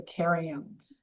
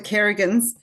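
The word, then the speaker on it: Carions: So it's sort of pronounced the Kerans. K. Okay. I missed that to write that down. Yeah. Not the Carrians.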